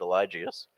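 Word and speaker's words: Eligius: It's called Elgus. Is that correct? Uh I think everyone pronounces it differently. I pronounce it Elijius.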